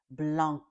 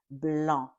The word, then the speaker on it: blanc: In French, we say blah because the c at the end is silent.